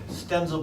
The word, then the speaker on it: Stenzel: Stenzel Barton. The hard Z.